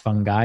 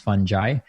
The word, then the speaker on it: fungi: it's called fantastic fungi and it's actually not pronounced fungi it's actually pronounced fungi and and so definitely a must watch i